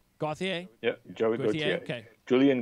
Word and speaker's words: Gauthier: Is that how you pronounce his name? Gauthier?